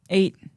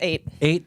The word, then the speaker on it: eyot: How did your boy pronounce it in the book? 8. It's 8.